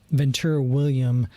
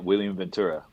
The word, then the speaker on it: William Ventura: over at uh uh ventura william cigar factory is the way i say it how do you say it again uh william ventura thank you that's that's the right way to say it i love that it's